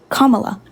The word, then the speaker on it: Kamala: law after do you understand how do you pronounce her name I just said kamla twice Kamala good girl okay so Kamala or party is